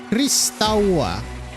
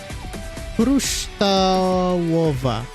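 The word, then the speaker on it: Kryształowa: Kruształowa. Galeria Kruształowa. I'm assuming that's what it's actually one. Kruształowa. So the U is W and the W is a V, of course.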